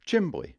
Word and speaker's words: chimney: culture has just died it's not chimney it's chimney chimbly the neighbors got smoke coming